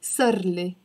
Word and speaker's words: صار لي: We pronounce it almost as if this صار has become part of the إلي. And the A sound, we don't focus on it. It almost becomes like صار. So here, instead of صار إلي, I can pronounce it صار لي. And this I is even disappearing. It's becoming صار لي.